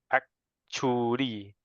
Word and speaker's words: actually: Actually, some pronounce as actually. We have to include the C sound. Actually.